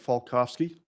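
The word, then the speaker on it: Falkofske: for the court reporter my name is falkovsky last name is spelled f-a-l-k-o-f-s-k-e Mr falkovsky who do you work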